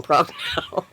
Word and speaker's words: Prochnow: You pronounce the CH.